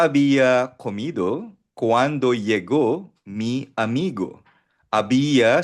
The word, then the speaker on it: había: Ya abiya comido cuando mi amigo abia silent h palagi ang lra h i had already i had already eaten when my friend arriv kumain na ako nang dumating ang kaibigan ko.